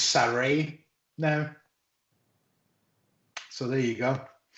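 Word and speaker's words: Sarray: official she's coming and her name is essentially the same but kind of different now so it's pronounced sorry now so there you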